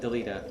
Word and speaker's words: Delita: I always pronounce it Delita. I think that's actually how his name is supposed to be pronounced.